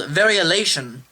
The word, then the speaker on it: variolation: At this time, there was a practice called variolation. Variolation. I'm saying it correctly. It doesn't seem like I am, but that's what it's called.